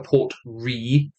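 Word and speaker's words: Port Ruighe: Sky, Talisker Storm, Talisker Port Re. Yes, that's how it's pronounced. Ruighe. All the letters except for the R and the E are silent.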